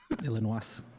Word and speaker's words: Illinois: I always want to pronounce the S in Illinois, like Illinois. Illinois. It's French. It's Illinois.